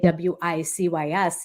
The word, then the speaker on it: WiCyS: We often go by our acronym, WiCyS, spelling it WiCYS, and pronouncing it WiCyS, like we sisters, because we're a global cyber sisterhood.